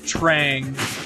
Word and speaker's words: Traag: Warriors or stone soldiers also his name is pronounced Trang I said his name wrong VHS tape don't